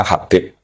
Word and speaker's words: Habib: Itu di harokatnya kitab itu ada yang nulis Hubab. Nah, yang benar, oh enggak, yang benar itu bacanya Habib.